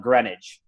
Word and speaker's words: Greenwich: We call it Greenwich, Connecticut. Oh okay. That's my Western Nebraska, we have to pronounce it exactly how it's spelled.